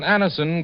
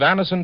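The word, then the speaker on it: Anacin: the pain of headaches neuritis or neuralgia when Anison gives you such incredibly fast relief there's a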